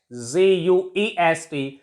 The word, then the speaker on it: guest: And guest, GUEST, U is silent, and we pronounced it as guest.